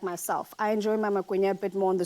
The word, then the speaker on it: Magwinya: Magwinya. Magwinya. Magwinya. You're right Magwinya.